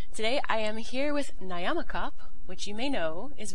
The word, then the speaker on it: Nyamakop: most people know, but I like when you pronounce it. So can you tell everyone about Nyamakop and exactly where this comes from? Nyamakop is a portmanteau word.